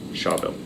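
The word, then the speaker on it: Schawbel: Shawbill.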